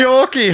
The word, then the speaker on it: Treorchy: Treorchy.